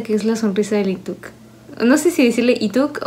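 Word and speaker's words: Leeteuk: es la sonrisa de Lituk. No sé si decirle Ituk o Lituk, porque sé que se pronuncia como si fuera Ituk.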